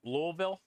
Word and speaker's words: Louisville: Old Louisville Lou Louisville that's one of those ones that's spelled weird but doesn't sound how it's spelled louville louville all right so we